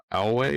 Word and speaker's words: Alway: So uh so my guest today is Josiah it Alway or Oway? Yes, Oway. Oway. Okay. So just how just how it's spelled?